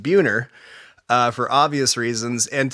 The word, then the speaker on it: Buehner: when I'm out there my last name is pronounced buer uh for obvious reasons